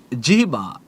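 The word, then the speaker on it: জিহ্বা: জিবা জিবা।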